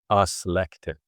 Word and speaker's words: ask: Askin and in the modern Norwegian they they pronounce it the same as the high old high German which is ask and um the modern German is asa.